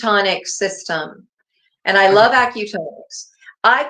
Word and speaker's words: acutonics: Auto it well there's it's acutonics ACU for acupuncture tonics for the tones and I'm um I